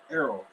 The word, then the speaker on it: Errol: ero dr. welcome thank you very much well I didn't expect me to read all that pronounce it my first name is Errol Errol my name is Darryl apologies apologies thank you